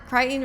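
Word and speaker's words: Crichton: Cry kryen rhymes with frighten.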